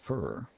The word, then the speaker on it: for: Often in USA English, for is said fur.